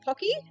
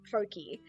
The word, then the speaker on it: Pocky: Uh, similarly, my mom and dad, they love calling pocky pokey.